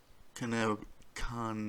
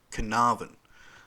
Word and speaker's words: Carnarvon: the abduction of four-year-old canal khan now oh carnarvon sorry i know that but it never never looks like how it's spelled uh girl cleo smith